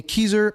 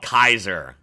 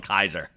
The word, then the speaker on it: Keyser: I even know it's called Kaiser. I mispronounce everything, but I know it's called Kaiser.